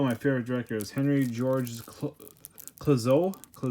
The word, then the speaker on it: Clouzot: But this director is one of my favorite directors, Henry Georges Clouzot. I think the T is silent.